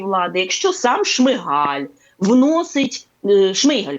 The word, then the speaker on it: Шмигаль: Якщо сам Шмигаль вносить Шмийгаль, кажуть правильно українською, до речі, наголос, якщо сам Шмийгаль вносить